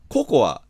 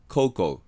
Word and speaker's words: cocoa: To give another example, we often say "cocoa," but that pronunciation doesn't exist in English. English doesn't have a single [o]. The English O is always a diphthong, . And the A isn't pronounced, so it's .